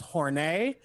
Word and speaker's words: Hornet: scared um there's also hornet pronounced hornay uh they are some